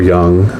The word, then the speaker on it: yang: stripes your yin and your yang or young um i've heard people pronounce it that way as well your time in